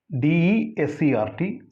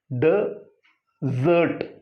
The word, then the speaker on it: desert: When you use it as a noun, the pronunciation is desert. Here said desert. Your vocal cord should vibrate, so it is desert.